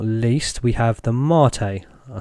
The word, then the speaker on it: MATE: so last but not least we have the mate i said it right for you guys as